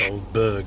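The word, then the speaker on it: Aldeburgh: This is ALDEBURGA. It's Oldberg, isn't it? It's Oldberg. Yeah.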